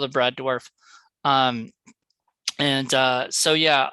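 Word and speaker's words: Dourif: uh Brad dwarf um that's how you pronounce his name right dwarf dwarf I have said it like The Reef um before and I I think I corrected them because I've always sort of known as dwarf you know and I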